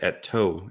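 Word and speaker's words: Eetu: um I would assume YouTube Academy or sorry et2 et2 gotta work on uh that's how he likes to his first name pronounced but etu machinimi um I think he would be or sorry at toe at toe um I think I know he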